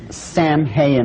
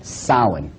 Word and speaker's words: Samhain: Now, when you look at the name, it looks as if it's saying Samhain or something like that. No, no, no, no. This is properly pronounced in the ancient Gaelic as Samhain.